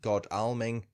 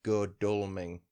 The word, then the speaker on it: Godalming: coaching town of godulming i've researched the pronunciation most people apparently say it god alming but apparently it's good dulming gaddulming we'll go with it looks like a proper